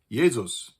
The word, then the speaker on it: Jesus: For instance the Hebrew name Yeshua is now pronounced like Joshua, and its Latinized version "Jesus" used to be pronounced "Yesus."